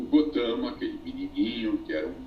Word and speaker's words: Gautama: obrigação de saber sânscrito o Buda se chamava gotama escreve-se gautama pronuncia-se gotão muitas seitas budistas o